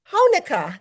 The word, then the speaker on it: Honaker: I'd like to welcome to the show Alex Core and Graham Honuka.